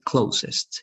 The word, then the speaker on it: closest: It was good, but you skipped the EST, okay? You have to pronounce it with a lot of emphasis because it's superlative, so it's going to be closest.